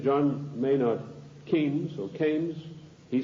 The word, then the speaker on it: Keynes: John Maynard Keynes or canes he said change was a better word because arrived with rhymes with brains and this is the